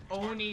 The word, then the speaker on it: ONI: to try to defend the Oni sword base or oi sword base depends how you say it the Office of Naval